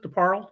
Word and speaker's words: DeParle: do uh um jason jason deparle does that he pronounces it to parallel it's a red word